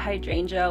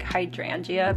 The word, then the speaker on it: hydrangea: And also, you guys, I totally thought hydrangea was like hydrangea because, growing up Asian, I just pronounced things phonetically, and I went to go ask my partner because he actually used to work at a florist shop, and he's like, yeah, it's hydrangea, and I was like, oh